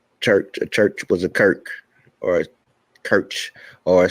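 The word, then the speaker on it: Circe: However, Cirque was in fact originally a Greek goddess where her name was written as Kirk and pronounced as such, just as in numerous similar cases of words of Greek origin.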